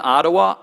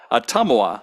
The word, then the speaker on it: Ottumwa: Born in Ottawa, Iowa, okay, now you got to tell me how to pronounce this. Ottumwa, Iowa, Father Aaron made his final oath with